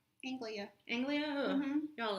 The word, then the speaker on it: Anglia: Fort Angelia? Anglia.